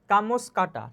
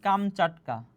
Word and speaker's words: কামচাটকা: কামস কাটা। ঠিক আছে। কামস কাটা হবে। তহলে কামসকাটা অর্থ কি? তাহলে কামসকাটা শব্দের প্রকৃত উচ্চারণ হবে কি? কামচাটকা।